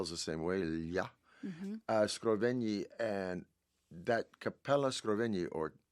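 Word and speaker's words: Scrovegni: Called the Capella Scroven. Scroven like GN is pronounced like million in Italian. Okay. Like G L is the same way. Scraven.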